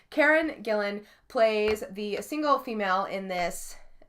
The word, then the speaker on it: Gillan: guys I'm so sorry I was want to say Gillian but there's no extra I Karen Gillan plays the single female